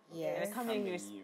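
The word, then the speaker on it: Kangmeyiri: Kameyiri. Yes. And Kameyiri is spelled K-A-N-G-M-E, then Y-I-R-I, Kameyiri International.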